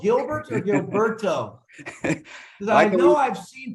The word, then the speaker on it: Gilberto: full name is Gilberto you pronounce it well just roll your R and work though okay gee